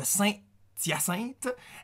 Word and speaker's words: Saint-Hyacinthe: Le H de Saint-Hyacinthe est un H muet et non un H aspiré.